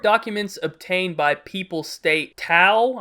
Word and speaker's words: Thao: Court documents obtained by People state Thao, I think the H is silent, Thao Sandy Doan, was arrested